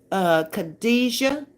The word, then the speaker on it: Khadijah: That lady's name is pronounced Khadijah. The J sounds like a ZH, like Shay. Kadisha.